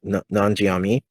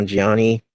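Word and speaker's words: Nanjiani: an older kidster um kumail non jiami learn how we say his name not non non-gianni um obviously he looks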